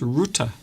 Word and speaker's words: Rutte: Mark Rutte, and a lot of people have been mispronouncing his name, but his name is pronounced Rutte. So Mark Rutte has been forced to resign as his party no longer has control and they cannot rein in immigration.